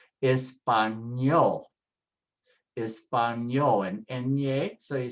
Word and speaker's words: español: Ending with a consonant, so just put the stress on the last syllable. Everything is on the last syllable now. Usted, español, español, and ñe, so you say ñol, español.